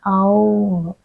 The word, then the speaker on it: Om: So what is Om? Actually, it is pronounced in ancient times, it was pronounced as Aum. Each of the syllables were pronounced, and it is said